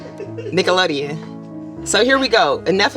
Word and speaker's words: Nickelodeon: And unfortunately, although Nickelodeon is letting you go. Can I ask why you're saying Nickelodeon like that, ma'am? How do you say it? Nickelodeon.